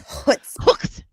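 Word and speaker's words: chutzpah: It's hutzah. Hutzba.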